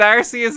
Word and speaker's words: Arceus: both are acceptable though they said arceus there but they've said rcs as well they've said it both ways i think it's arceus i think that's how you pronounce it and i'll i'll never